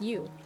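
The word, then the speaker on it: ewe: Oh, it's pronounced U.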